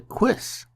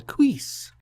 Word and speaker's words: cuisse: The part that protects your upper thigh is called a cuisse, or a cuisse.